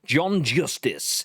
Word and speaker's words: John Justice: John Justice was the VP and head of product for Stadia.